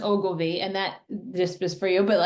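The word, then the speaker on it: Ogilvie: told me, took me off because I have Agilvi syndrome. Now my blood sugar is running higher than it has been. What should I do or take to combat this? Um, Thanks. So that's it's pronounced Ogilvy, and that just was for you, but like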